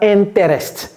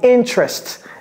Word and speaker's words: interest: avant le T et ça se prononce comment ce n'est pas inter ne dites pas interest c'est quoi c'est interest interest ok interest for example